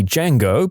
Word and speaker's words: Django: at her and said the D is silent peer reviewing in high